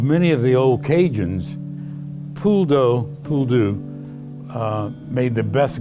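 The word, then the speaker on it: poule d'eau: that's where we get pasta throughout cajun food pool dough which is uh that's how is pronounced correctly in french has been bastardized to become a pool do and uh they are coots them thousands and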